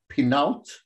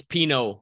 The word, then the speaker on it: Pinault: Pinault? It's Pinot, like the wine.